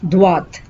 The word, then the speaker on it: droit: would say tourner à droite. Tourner à droite. The difference here is you say droit. You don't pronounce the T here, but here you pronounce the T. Tout droit. À droite.